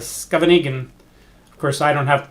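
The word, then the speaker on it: Scheveningen: to pronounce it the chevan again but somebody who uh lived near the town said uh now dan it's pronounced more like a scavenger of course i don't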